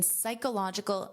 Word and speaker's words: psychological: In a study published earlier this year in Psychological Science. So, notice the pronunciation of this, that P is silent. You hear the S, psych, psych, psychological, psychological.